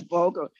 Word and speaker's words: bulgur: Excuse me, Chef Ross, someone asked about using other high protein grains like buckwheat, spelt, oats, barley, bulgur, I think that's how you pronounce it. Yes, bulgur.